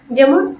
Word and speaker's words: যে: এ ধ্বনির উচ্চারণের নিয়মগুলো কি কি, কোন কোন শর্ত, মানে কোথায় এ হবে, কোথায় এ হবে, সেই উচ্চারণটা নিয়মগুলো এখন আলোচনা করব। যেমন একাক্ষর সর্বনাম পদের এ এর উচ্চারণ, সরি এখানে উচ্চারণটা বানানটা একটু খেয়াল করিনি।